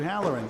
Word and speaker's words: Holleran: It's spelled with an O, but it's pronounced with an A. Sue Halloran on lane 3, Jenna Ward on lane 4.